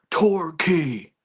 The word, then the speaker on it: Torquay: It's pronounced Torquay.